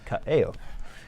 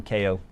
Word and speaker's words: Kaeo: Kaeo is Hawaiian, so his name is Kaeo. Some people call him Ko. That's wrong.